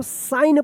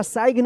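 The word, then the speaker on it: sign: तो देखिए एस आई जी एन तो एन से पहले जी है। तो क्या होगा कि ये जी जो है ना साइलेंट रहेगा। क्या पढ़ेंगे इसको? साइन पढ़ेंगे इसको। सिग्न या साइग्न मत पढ़िएगा।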